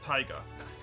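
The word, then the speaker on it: Taiga: was my dog and my cat is called tiger t-a-i-g-a spelled like the biome that exists oh okay how do you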